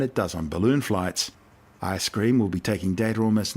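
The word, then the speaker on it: ISS-CREAM: series 12 will be the ISS creme pronounced ice-cream cosmic ray detector ice-cream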